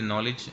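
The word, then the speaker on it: knowledge: इसी तरीके से नॉलेज आप जानते ही हैं, तो के हम साइलेंट करते हैं इसका।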